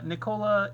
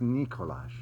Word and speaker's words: Nikola: And Nikola Jokic.